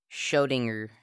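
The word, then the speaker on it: Schrödinger: Schrodinger. Yeah, that's how you say it, Ethan.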